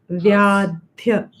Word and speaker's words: व्याध्य: The is not full, it's half. Vyadhya.